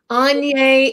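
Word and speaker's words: Aigner: Oh, wait, before you go, tell me how to pronounce this. Oh, that's Anye Etienne.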